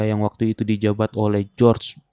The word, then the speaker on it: Georgia: di negara bagian George tulisannya Georgia bacanya George semua penduduk desa itu